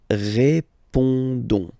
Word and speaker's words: répondons: Don't pronounce the final S. You only pronounce this on sound. So you get répondons.